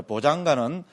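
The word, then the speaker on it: bojjhaṅga: 이하고 아하고 오면서 야가 되고, 그래서 보장가로 이렇게 빨리에서는, 그죠? 이렇게 발음을 합니다.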